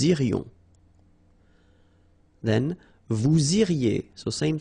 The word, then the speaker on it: irions: Final S not pronounced. Nous irions.